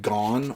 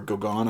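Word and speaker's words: Gaughan: on this is uh by Jack gone or Goan I think it's gone is how you pronounce his name I got a Ballantine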